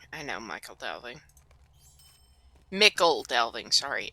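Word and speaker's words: Michel Delving: Let's do Michael Delving. I know Michael Delving. Mickle Delving, sorry. It's Mickle Delving. I've been pronouncing that Michael Delving for the past 10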